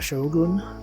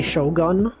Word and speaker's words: shogun: One of the great lords who were vassals of the shogun. You know how some people say shogun? They pronounce the word gun as if it was in English.